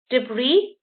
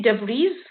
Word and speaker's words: debris: got the silent s so you've got island we don't say island debris we don't say debris then you've got the